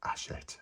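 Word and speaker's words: Hachette: for you I think he might be right ashet that's the way it's pronounced now I've said that about four times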